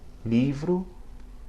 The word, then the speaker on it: livro: At the beginning of a word, or between vowels where it's going to start a new syllable, it sounds a lot like the L in English. Examples: livro, logo, pelo.